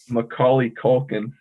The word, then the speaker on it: Macaulay Culkin: ahead master master will macaulay culkin and then ollie is sort of like oh like the skater move right and all that